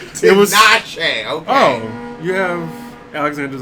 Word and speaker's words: Tinashe: He pronounced it correctly. Tinashe, okay.